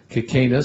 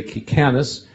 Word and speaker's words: Kicanas: Some say Kicanas, some say Kicanas. My uncle actually changed his name to Kicanas.